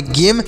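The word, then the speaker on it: game: म ई से एक ई से इ का उच्चारण नहीं होगा जैसे हमने यहां पर बताया कि लास्ट में ई रहता है तो उसका उच्चारण नहीं होता है ऐसे पढ़ेंगे गेम और गेम मतलब होता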